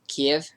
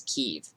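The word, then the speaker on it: Kyiv: and like i spoke about earlier how we say kiev that's how russians would say it how ukrainians say it is kiev so if you pronounce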